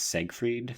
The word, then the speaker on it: Seyfried: Oh, also, can we pronounce her name correctly? It's Siegfried. Thank you. Oh, Seyfried.